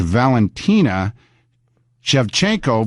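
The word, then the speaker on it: Valentina Shevchenko: and I'm not going to butcher it it's Valentina chevchenko versus Juliana Pena tough fight love tough fight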